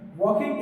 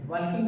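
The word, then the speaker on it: walking: चलता है जैसे Apple वकिंग is useful to हे वाकिंग नहीं वकिंग एल साइलेंट होता है वकिंग इज यूजफुल टू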